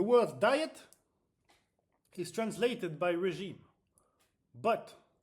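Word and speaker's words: régime: in French the word diet is translated by regime But it's pronounced regime.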